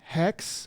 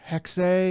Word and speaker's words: Hexe: They did release another teaser for Assassin's Creed codename Hex, or Hexe, as one of the British ladies pronounced it. It's spelled Hexe.